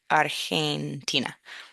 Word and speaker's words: Argentina: Get that get that soft G when you have the E after it. So he argentina.